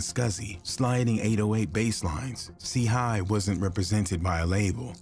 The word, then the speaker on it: CHII: The name WVTTZ, pronounced Watts, paid homage to an LA neighborhood, while CHII, pronounced C.Hi., signified his affiliation with the Crips, a notorious street gang.